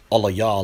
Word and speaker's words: Eli: his post, which read Alaya Alaya lama izabathanaya, is merely his Lashawan Kodash pronunciation of how the text is rendered in the 22nd Psalm. The mainstream pronunciation would be Eli Eli lama azabtani.